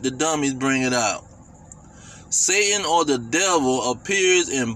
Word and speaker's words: Satan: It say the Hebrew name Satan, pronounced Satan, actually means adversary.